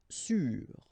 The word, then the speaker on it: sûr: Sûr. Sûr. Okay, even if you get this accent circonflexe, you don't pronounce it, so you get the same pronunciation, sûr and sûr.